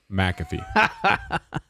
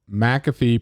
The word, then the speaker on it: McAfee: it is right here every time um mcafee pronounces it m-a-c-a-f-e-e mcafee well i'll tell you